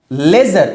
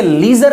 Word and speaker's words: leisure: लेजर, इसे लीजर नहीं, लेजर, LEI या LIE, इसी में डिफरेंस आपको देखने।